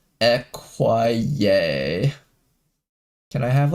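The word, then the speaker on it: écuyer: The French word acquire meaning squire or rider is pronounced equier.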